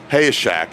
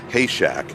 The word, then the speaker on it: Hayeshak: to remind me about my mispronunciation of Robert Hayeshak. It's not Hayshak.